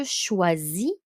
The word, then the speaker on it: choisis: So it's going to be je choisis, choisis, je choisis. IS at the end, silent. Tu choisis, il choisit. So OI is a wa sound in French.